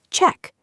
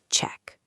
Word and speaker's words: check: Make sure you give it a clear ch sound at the beginning, like a train sound, ch ch check. Don't confuse it with sh check.